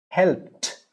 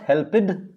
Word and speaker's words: helped: go to t helped it's not helpid helped the p is p the k the gh the ch the x and the sh when you have these words ending the word we'll use t helped helped looked looked